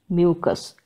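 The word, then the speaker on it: mucous: It is pronounced as mucus, m-u-c-o-u-s, mucus.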